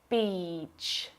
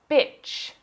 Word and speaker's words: beach: Beach. If you mispronounce this long vowel sound and use the short I sound, you'll say bitch. That's a rude word.